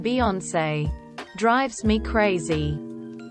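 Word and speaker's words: Beyoncé: reason they've decided to not pronounce the e in Beyonce drives me crazy it's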